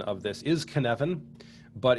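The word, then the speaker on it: Cynefin: perspective you can certainly go there and the pronunciation of this is kanevin but it's written c-y-n-e-f-i-n a welsh word i believe and uh very very confusing at first glance but you pronounce it caneven and dave snowden uh came up with this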